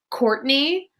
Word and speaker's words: Courtenay: nothing funnier than my character's name is Courtney, but it's spelled Courtenay.